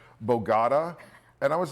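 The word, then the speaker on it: Bogotá: Yeah, and we stopped reading the script, and then we just started talking about stories and personal things, and she would mispronounce words like Bogota, and I was like, Bogota?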